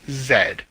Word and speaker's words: Z: says the word Z, it comes across as Zed.